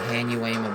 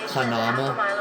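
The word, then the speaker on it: Hanauma: I used to call it Hanuema Bay, but it's Hanama Bay instead.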